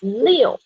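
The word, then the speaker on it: 六: six years because the pronunciation of six is leo chinese pronunciation number six is illegal means uh we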